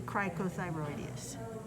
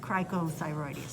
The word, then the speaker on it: cricothyroid: i gotta correct this oh i did i did say this one wrong i apologize that's okay that's okay this is the crico no yeah cricothyroid this muscle here is